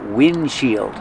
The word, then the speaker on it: windshield: But you don't really hear the D because it's a stop D. Windshield. You make the position of the D but don't release D. Just windshield.